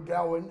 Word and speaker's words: Gawain: Sir Gawain, or Gawain, however you want to pronounce that name, is often right there with him.